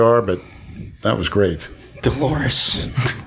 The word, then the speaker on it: Dolores: Dolores. Rhymes with clitoris.